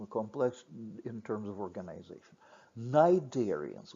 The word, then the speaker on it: cnidarians: in terms of organisation cnidarians with silent sea not not say Snyder's or colliders they're cnidarians some Greek based terms